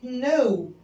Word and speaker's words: know: نايف الكي مش بتتنطق زي كلمة نو يعني يعرف. لما أقول I know أنا أعرف الكي سايلنت يبقى الكي لما يجي وراها ار مش بننطق الكي يبقى ركبة اسمها ني.